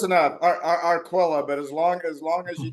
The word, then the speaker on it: Arquilla: So Arquilla. Say it right. It's Italian. I don't speak Italian. Close enough. Arquilla, but as long as you just keep talking to me, I'll be okay.